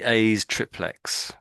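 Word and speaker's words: aes triplex: So in his essay as a, I don't know how to pronounce that. A's triplet. I'd say A's triplex.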